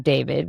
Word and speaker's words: D4vd: Singer-songwriter David Anthony Burke, better known by his stage name David, which is spelled D4VD, was back in court this week for a preliminary hearing.